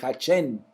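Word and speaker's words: השם: Yo vengo a ti en el nombre, en el Hachén, que es la manera como se menciona en hebreo nombre.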